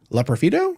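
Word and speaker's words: Loperfido: of those things we talked about um Joey L profito did I pronounce that right yep Joey L profo hey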